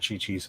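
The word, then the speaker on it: Qiqi: as half mexican i'm a big fan of chi chi's um yeah but it's spelled kiki but they pronounce it chichi junk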